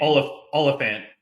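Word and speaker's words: Olyphant: Oliphant.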